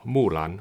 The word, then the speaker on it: Mulan: In this video, we are going to analyze the HDR presentation of Mulan on Disney+. In case you're wondering why I'm pronouncing in this manner, that's the correct Chinese pronunciation.